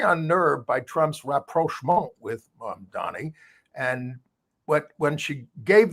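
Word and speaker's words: Mamdani: And she was very unnerved by Trump's rapro with mom Donnie. And what when she gave this interview, she repeatedly got his name wrong, calling him mom Dami.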